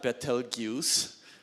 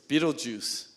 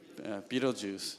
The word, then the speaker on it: Betelgeuse: to pronounce this one it's not Betelgeuse it's Beetlejuice Beetlejuice okay Beetlejuice is about 427 light